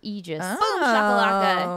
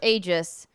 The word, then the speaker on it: Aegis: but is Aegis it is a word of Greek origin and is pronounced Aegis not Aegis I don't know Greek